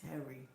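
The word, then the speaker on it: Tehry: just for your information my name is pronounced Terry oh that's how oh that's nice I like that Terry is spelled t e h r y oh that's nice thank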